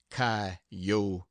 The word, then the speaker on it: coyotes: chinen Spaniards gamblers sharpers coyotes pronounced kotes poets preachers and jackass